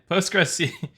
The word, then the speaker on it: Postgres: Like it sound it's it's like Postgress. It sounds like a word in literal Spanish. Everyone just says Postgress and ignores the qu postgress SQL.